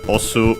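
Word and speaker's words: 押す: Then we have, by the way, as a reminder, osu unaccented.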